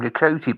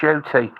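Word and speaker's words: Ncuti: I used to think maybe you pronounced his name Nakuti, but it's actually come from the camel's mouth. He actually pronounces his name as Shooty, because it's an African name. It's spelled Ncut, but it's pronounced Shooty.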